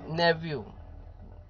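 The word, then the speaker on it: nephew: नेव्यू, नेव्यू यहाँ पे क्या आप बोलोगे, नेव्यू, तो जो नेव्यू है वो भतीजा, नेव्यू, नेव्यू। यहाँ यह एच जो है वो साइलेंट है, यहाँ पे एच जो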